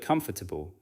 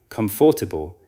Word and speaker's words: comfortable: Say the word comfortable. Some learners try to pronounce every written part with equal strength, producing something like comfortable. In natural speech, the word is usually compressed and the unstressed parts become lighter.